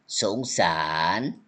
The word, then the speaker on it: สงสาร: you know สงสาร spelling different okay Yes, you teacher. spell but you say spell like this say like this okay สงสาร you know